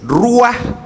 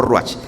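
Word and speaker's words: רוח: Y en hebreo significa o se se dice ruaj o ruch. Ruah o ruach.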